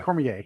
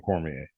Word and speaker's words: Cormier: and not having Daniel Cormier, how do you pronounce it? Cormier, yeah, Cormier, yes.